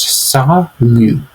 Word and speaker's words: salut: Now, of course, with the spelling, it does look like it might be pronounced salute, but it actually is pronounced salut.